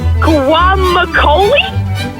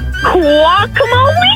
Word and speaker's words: guacamole: Um, I can't say the word guacoli. Sorry. Guac guacamole.